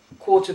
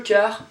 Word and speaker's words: quart: here in this case, quarter past in English. So it would be 6h15 in French. Écart. Quart means a quarter. You don't pronounce the T here, so we're saying écart and quarter.